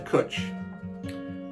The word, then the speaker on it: Cwtch: The title I suggested was Everybody Needs a Cwtch. Cwtch, pronounced cwtch to rhyme with butch, is the Welsh word for a cuddle or a hug, but it's much more than that.